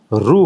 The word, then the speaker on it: ऋ: ऋ हमारे गुजरात में इसका उच्चारण रू होता है।